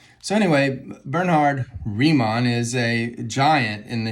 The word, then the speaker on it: Riemann: So when you have this German phoneme, I-E, you pronounce it, or E-I, you pronounce it with the long vowel of the second vowel. So this is Riemann. I don't know how to pronounce Bernhard. I guess it's Bernhard. But this is Riemann. Now, if you turn it around and you have E-I, then that would be a long I sound.